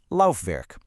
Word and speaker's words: Laufwerk: Then, you've got the German w, which sounds just like an English v. Think Laufwerk.